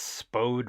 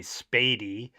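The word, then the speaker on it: Spoede: You might think that's Spode Road, but it's actually Spady.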